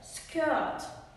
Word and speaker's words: skirt: Не забуваємо, що буква сполучення IR читається R. Skirt.